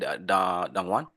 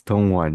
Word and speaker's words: Dongwan: Dangan. Am I saying your name right? Dongwan. Am I saying it right? Well, it doesn't really matter. It's okay. No. How do you say it? It's Dongwan.